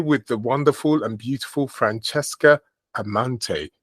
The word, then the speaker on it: Francesca Amante: And I'm here with the wonderful and beautiful Francesca Amante. Did I say it correctly? That's correct.